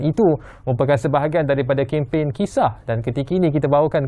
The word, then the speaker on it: kisah: Saya nak mulakan dahulu dengan istilah kisah itu sendiri. Walaupun bacanya KISAH lah, tapi A-nya tu lain macam.